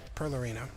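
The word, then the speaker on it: Perlereino: which is the planet uh Perler per Leary perlerino Pearl Arena yeah that's how it's pronounced Primal Planet Pearl Arena now when they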